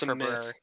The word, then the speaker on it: February: exists in the first place it's february it's february yeah and it's spoken i think at some